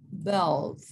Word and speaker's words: bald: Bald. La A la pronunciamos como E muy suave, bald.